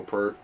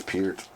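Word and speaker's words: Peart: the passing of Neil Per or Pert. I always say even though I know Per's not the right way to say his name, I still like saying it. Per. It's Pier.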